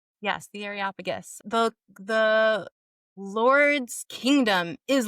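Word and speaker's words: Areopagus: you say that that Athenian place the Aropagus? Yes, the Aropagus.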